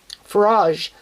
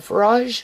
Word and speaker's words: Farage: being with a far how do you say that um farage a Fage farage like a like it's like a mirage but it's more like